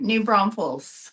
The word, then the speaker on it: New Braunfels: to do it y so I I'm even pronouncing it wrong yeah so so say it Alicia the way you say it new Bron Falls new Bron yes yeah you did great you